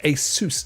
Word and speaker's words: ASUS: Now, I've always pronounced it ASUS, but I'm going to lean towards the majority. And I've noticed that when watching anything about it on YouTube, they pronounce it ASUS. So I shall pronounce it ASUS.